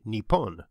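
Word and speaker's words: Nippon: during the tang dynasty Japanese scholars of Chinese adopted the name with the Japanese pronunciations of the kanji characters also borrowed from China which after a series of sound changes became neon and neap on both pronunciations use today this is what lies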